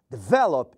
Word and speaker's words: develop: consoante mas vejam que a sílaba tônica não é a última develop é a segunda answer é a primeira então aí nós não